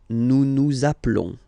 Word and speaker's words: nous appelons: Okay, nous appelons, and then little link would be perfect. So let's pronounce the whole thing again. Nous appelons. Nous appelons. Okay, final s doesn't exist.